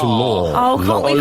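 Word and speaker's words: Laugher: Is it Chris Mears and is it Jack Larfer? Well, I think it's pronounced Law.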